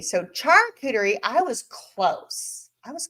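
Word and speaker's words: charcuterie: 10 cast strength okay John Cloud says it's pronounced Char cterie okay well I think I was saying Sherie so Char cerie I was close I was close all right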